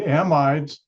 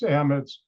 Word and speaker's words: amide: dear to my heart amids or amids depending on which side of the ocean you are English pronounce it actually amides but here in the United States amids and heterocyc compounds and